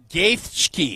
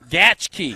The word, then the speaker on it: Gaethje: Justin Gaethje. Nope. Gaethje. Nope. Gaethje. Nope. Gaethje. Nope. Right, how do you say it? Gaethje. God, how do I get it wrong? Gaethje.